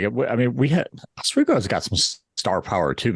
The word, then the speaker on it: Oswego: And also, like, I mean, Oswego's got some star power too, man.